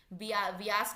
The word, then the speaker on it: Beas: सतलुज के बाद रावी, व्यास नदी, जिसको इंग्लिश में ब्यास बोलते हैं, स्पेलिंग BEAS, वैसे व्यास नदी है।